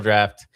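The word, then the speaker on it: Draught: But this one's at Final Draft, or it's spelled Final Drought. It's English, an old English word for drinking.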